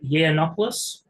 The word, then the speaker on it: Yiannopoulos: I I know I'm just cringing that you mispronounced his last name what is it yiannopoulos yeah ianopoulos that's what I said I thought